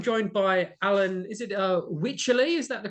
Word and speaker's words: Wycherley: Is it Wycherley? Is that the correct pronunciation? Wycherley, yeah, that's the one.